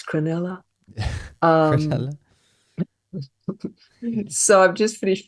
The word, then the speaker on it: Cronulla: finished hlc2 down in cronulla uh if I've printed I'm always pulled up for how I pronounce words and places for me it's crinnella um so I've just